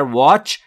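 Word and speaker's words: watch: توجه بفرمایید عزیزان که تی در واچ ناخواناست و تلفظ نمیشه واچ یور سپ جلو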